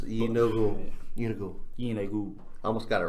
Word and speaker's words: Gnoll: Yeah, it's Unigul.